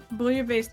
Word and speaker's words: bouillabaisse: Bouillabaisse is how you pronounce it.